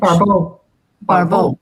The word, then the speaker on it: Barbault: entire astrological community, what André Barbault, a French Barbault. Yeah, thank you for that pronunciation.